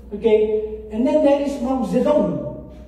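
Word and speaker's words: Mao Zedong: and then there is Mazedon some people they pronounce Maeton but Ma Zedon uh he's the number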